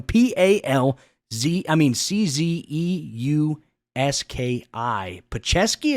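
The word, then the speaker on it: Palczewski: p-a-l-z I mean c-z-e-u-s-k-i pachevski is that how you pronounce it I think it's pal chesky Alex palcesky the third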